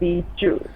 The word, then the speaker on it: Bihzhu: Bihzhu, right? No, it's actually pronounced Bihzhu. Bihzhu. Like train.